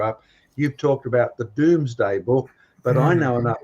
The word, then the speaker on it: Domesday: So it's the Domesday book, and we pronounce it Doomsday.